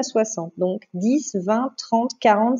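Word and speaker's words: soixante: Donc 60 s'écrit S-O-I pour le son wa, le X qui sonne S, le an à N et TE à la fin.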